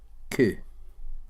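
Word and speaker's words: Qcoo: And before I continue, her name is spelled Eva, E-V-A, Q-C-O-O. Koo. Now, wherever you're from, that might be perfectly normal for someone to have the surname Koo.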